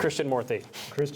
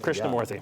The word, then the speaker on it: Krishnamoorthi: And I know you're better at pronouncing his last name. Krishnamoorthi. Krishnamoorthi.